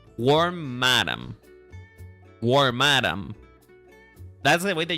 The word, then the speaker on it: Wormadam: Oh, by the way, apparently I learned that it's pronounced Wormadam, not Wormadam. It's Wormadam.